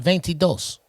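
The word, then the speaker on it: veintidós: say 22 baby yeah but that ain't how they say it though it is not it's called ventidos go with that right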